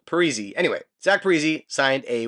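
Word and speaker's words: Parise: heard in a while Zack periz or sorry Zack perzy I remember people used to call him P then I guess he came out and said it should be pronounced pzy anyway Zack pzy signed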